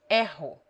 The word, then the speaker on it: erro: When it begins a word or is double, it is rolled, as in French or Spanish. Rio. Erro.